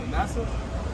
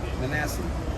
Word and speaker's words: Manasseh: How you pronounce that? Well, I think you're talking about Manasseh. Manasseh.